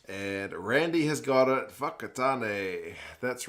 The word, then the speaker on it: Whakatane: My mum was born in Whakatane, actually. Nice town. Nice town, old Whakatane. Or if you're my dad and my mum, you'd call it Wakatane, which is probably pretty terrible pronunciation.